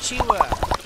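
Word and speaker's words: Qiwa: not hello competition with kiwa the other day we tied it was fun it's not keywords chiwa you're saying it wrong uh here actually you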